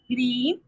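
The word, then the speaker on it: ह्रीं: ओम रीम, हा के नीचे रा का रेफ लगा हुआ है ना, तो रीम बोलेंगे। ओम रीम अर्हम नमो परम ओही है ना, तो पर मोही जिणाणम।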